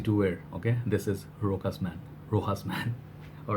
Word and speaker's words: Rochas: Look at this fragrance, Rochas Man. It's also known as Rochas Man, Rochas Man, Rocha Man. I just call it Rochas Man, I guess. The H, I guess, is silent.